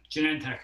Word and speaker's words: Genentech: Because I know that you worked at a company, which I believe I'm allowed to say is how do you say it? Genentech or? Yeah, Genentech. Okay, Genentech. Exactly.